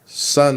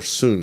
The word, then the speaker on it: Sun: China then you have Sun style or soon style depending on how you want to pronounce it that one you find a lot of certifications for dr.